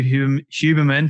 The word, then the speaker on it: Huberman: Andrew Huberman to the Storybox podcast today.